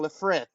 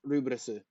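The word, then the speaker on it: Lfrith: be announced in Japanese if they were in English I'd be saying lafrith but they're in Japanese in which it's pronounced rubrisu anyway satsuna another one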